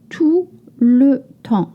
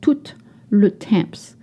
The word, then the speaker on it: tout le temps: You don't pronounce the consonant at the end of French word.